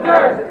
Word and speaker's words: Duerst: Durst is the worst. Hey, how do you spell that? DUERST. Just remember Durst is the worst.